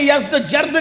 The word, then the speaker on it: یزدجرد: یزدجرد، اس کو یزدگرد بھی کہتے ہیں ایرانی لب و لہجے میں، عربی میں یزدجرد کہتے ہیں.